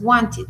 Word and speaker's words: wanted: Sí, uno dice, "Ah, bueno, yo ya sé que wanted se pronuncia como con una idea de al final, porque ya lo he escuchado muchas veces, muchas veces. Want it. Want it.